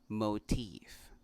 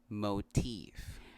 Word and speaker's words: motif: But going back to this word is pronounced motif. Again, motif.